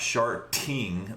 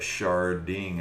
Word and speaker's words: sharding: very very similar technology sharding not shark ting but charding as in shards like the crystal shard um yeah uh yeah